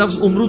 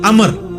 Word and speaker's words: Amr: इनका बहुत था अच्छा लेकिन वो लज ही गलत है ल उमरू तो कोई लज नहीं है लज है अमर लिखा होता है उमरू लेकिन उसका मतलब वाओ जो है व साइलेंट होता है और वाव का मतलब यह है कि आपने इसे पेश की बजाय जबर से पढ़ना है उमर की बजाय पढ़ना है अमर तो हजरत अमर बिन